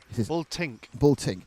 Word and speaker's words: Bultink: So the leader is Kaufmann, but Boltnick now is... No, I've said it wrong again, haven't I? Not Boltnick. Bultink.